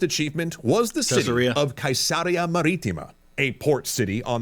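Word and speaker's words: Caesarea: Yet perhaps his greatest achievement was the city of Kaisaria Maritima, a port city on the Mediterranean built on a coast with no natural bays or ports. I I said Cesaria, but the way he pronounced it is closer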